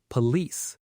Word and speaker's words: police: Think of the word release which rhymes with the second part of police.